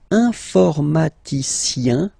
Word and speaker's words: informaticien: And the last group is IEN, informaticien, yin, yin, yin. So that's the way to pronounce this IEN, yin, yin, okay?